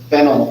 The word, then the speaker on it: phenyl: Phenyl is pronounced like the root vegetable.